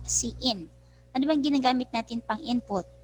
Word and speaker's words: cin: in c plus plus k c in pronounced c in and when given gamma